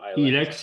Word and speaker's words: Ilex: Yeah, and the Rosso that you produce, is it pronounce it Elex or Ilex? Elex, yeah, Elex, and is a Sangiovese and just a stainless steel tank.